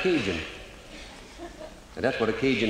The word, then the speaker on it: Cajun: In English, you pronounce that Cajun.